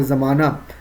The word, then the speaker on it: زمانہ: ہائے مختفی وہی ہے جس کا تلفظ واضح طور پر ادا نہ ہو. جیسے زمانہ، یہاں پہ زمانہ جو ہے لیکن اس کا تلفظ الف کے اوپر آ رہا ہے، زمانہ. گھرانہ، نشانہ، یہ سب الف کا تلفظ ہے، مکمل طور پہ ہا کی تلفظ ادا نہیں ہو رہی، اسی لیے ہم اس